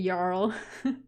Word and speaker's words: Jarl: Typically, here the J's are pronounced as Y, so. Oh, so it's Jarl. Okay, Jarl.